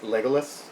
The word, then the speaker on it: Legolas: Luis's silent crush on Legolas. What? It's pronounced Legolas.